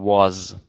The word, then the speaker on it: was: and concerned uh with your way of pronouncing was don't forget the last sound z z we try to practice